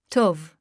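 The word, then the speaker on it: טוב: Therefore, we have an appreciation of the Hebrew word pronounced as tov.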